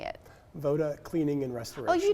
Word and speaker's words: VOD: you said it correctly so you say it VOD Cleaning and Restoration oh you did say VOD okay Voda is the Serbian word for for